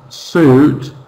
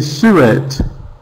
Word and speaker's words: suit: You know for example they see the word this word suit and they see su it because in their language every letter is pronounced. Yeah. So they pronouncing uh e s it but in English suit.